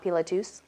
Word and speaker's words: Pilatus: to the top of mount pilatus which every time I say it I feel like I'm over pronouncing I did tell someone there they're like no you're saying it right I was like really